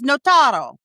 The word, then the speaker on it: Notaro: We say it wrong. We've really anglicized it. It is Notaro. Well, but I don't have I'm not rolling the R.